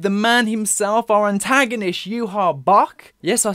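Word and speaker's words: Yhwach: Following up with the man himself, our antagonist, Yuha Bok.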